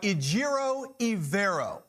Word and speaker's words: Ejiro Evero: But I want to talk about Ejiro Evero. Remember the name, remember the pronunciation.